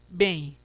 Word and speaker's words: bem: isso aí por exemplo bem olha que interessante bem pronunciamos bem repare que esse e aqui pessoas ele